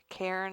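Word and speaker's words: Cairn: than it was how do you say it Karen Karen Terrier Karen Terrier and actually fun fact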